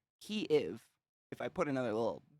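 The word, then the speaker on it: Kyiv: my voice bad accent key if if i put another little space in there but it's not supposed to have it that is the proper ukrainian pronunciation of kiev and by pronouncing it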